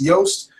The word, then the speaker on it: Yoast: yast SEO plugin um it's real easy for me to remember because it rhymes with toast now why yast and toast stick in my head I don't know but if it works for me maybe it'll work for you so it's yoast the SEO plugin and